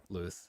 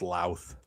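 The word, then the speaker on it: Louth: And then the Eastern Orthodox view, like I said, by Father Andrew Luth. I think he does a pretty good job in this one. It's actually pronounced La.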